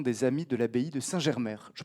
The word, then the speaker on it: Saint-Germer: Je présente enfin Christophe Baudry, voilà, le 5e autour de cette table, fondateur et président de l'association des Amis de l'Abbaye de Saint-Germer. Je prononce bien?